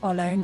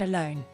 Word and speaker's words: alone: So it is not alone or alone, but alone.